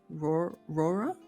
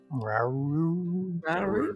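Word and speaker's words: Rauru: Rora? Raru. Yeah, It's like Scooby-Doo, like Okay, so we can't say it.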